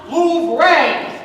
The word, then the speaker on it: Louvre: It's pronounced Louvre.